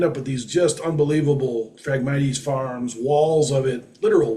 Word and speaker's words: Phragmites: Phragmites, is how it's pronounced.